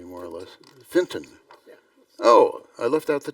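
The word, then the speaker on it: Fintan: a formal welcome from the president did I pronounce that correctly more or less Finton oh I left out the tea okay thank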